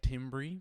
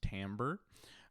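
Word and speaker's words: timbre: got duration pitch Tambor looks like Tim Bri but it's actually pronounced Tambor and intensity so let's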